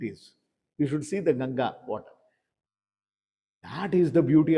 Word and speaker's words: Ganga: So that is why when you take the name of Ganga Krishna says here I am samasmi I'm the Ganga you see the ganga you can't call it as ganges gangas is the absurd or twisted word of